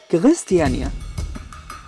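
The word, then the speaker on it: Christiania: هتلاقوا مقاطعة هناك اسمها كريستيانيا، الدنماركيين بينطقوها كغريستيانيا، وده عبارة عن حي ليه قواعد وقوانين مختلفة تماماً عن باقي قواعد وقوانين الدنمارك وكوبنهاجن.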